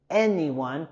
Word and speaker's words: anyone: En las palabras seeing y también anyone, queremos subir en la primera sílaba seeing, anyone, okay?